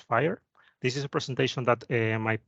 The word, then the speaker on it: FHIR: and talk about fhiir it's pronounced fire this is a presentation